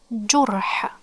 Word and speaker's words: جرح: One dot below, this is jim. It has dhamma, so it's pronounced like ju. Then the ra has sukoon, and this one, the curve, the C with no dots above or inside, this is ha.